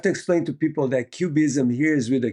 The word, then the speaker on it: QBism: So we have to explain to people that cubism here is with a Q for quantum. that's right. It is a deliberate nod to the art movement, but it's capital Q, capital BISM, pronounced cubism, and it has to